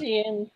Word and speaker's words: Zhiyun: I think it's pronounced Zhiyun, it's pronounced Zhiyun.